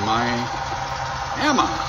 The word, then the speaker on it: Miami: the city of Miami you could always tell a local Miami because they pronounce Miami myama this was the premier Florida